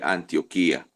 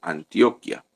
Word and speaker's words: Antioquía: que estaba en antioquía se lee antioquía claramente en estos días un hermano leyó Antioquia Antioquia es un departamento de Colombia entonces aquí como lleva tilde en la i leemos antioquía entonces en la iglesia